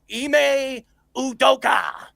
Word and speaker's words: Ime Udoka: Durant also mentioned wanting to go to the Rockets because of his relationships with his head coach, Ime Udoka.